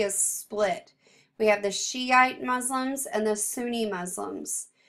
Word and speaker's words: Shiite: We have the Shiite Muslims and the Sunni Muslims. Shiite is, English is spelled Shi apostrophe ite, and then Sunni is Sunni.